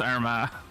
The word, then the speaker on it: Armagh: It's pronounced Armagh. You don't pronounce the G. You just say R and then like ma, but as though you're talking about an Irish mother. Like ma. It's Armagh.